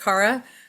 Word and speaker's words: Cara: Um, so I just want to say um my name is uh is actually pronounced Cara. Sorry, it's not something you can uh tell from the spelling or anything.